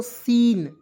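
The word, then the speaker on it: scene: देखिए इसे क्या पढ़ेंगे सी को सबसे पहले साइलेंट करेंगे एस एन े पढ़ेंगे दोस्तों सीन ठीक से स लिख दीजिएगा एन को लिख दीजिएगा हो जाएगा सीन सीन मीस होता दोस्तों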